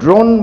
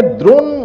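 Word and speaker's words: drone: একালে একটি বিশেষ ধরনের ক্যামেরার প্রচলন আছে, যেটাকে ড্রোন বলা হয়, আপনারা জানেন, যেটা অনেক ওপর থেকে ছবি তোলে এবং সামগ্রিক চিত্রটি আমাদের সামনে উপস্থাপন করে। অনেকে ড্রোনকে দ্রোণ উচ্চারণ করে থাকেন ভুলবশত।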